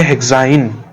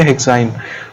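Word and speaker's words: hexyne: तो इसको हम क्या प्रोनाउंस करेंगे? इथाइन, इसको बोलेंगे प्रोपाइन, इसको बोलेंगे ब्यूटाइन, इसको बोलेंगे पेंटाइन और इसको बोलेंगे हेक्साइन।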